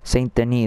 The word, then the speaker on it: Saint Denis: Saint Denis, that's how you say it.